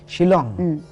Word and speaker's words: Shillong: Sheila I mean young Shillong is a wonder how do you pronounce that it is Sh I ll or ng she long she long it was the capital